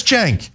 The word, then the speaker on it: Cenk: my job if you if you have a name that's Cen K and the seems pronounced like a j it's your job to tell people hey that's Jen not to be like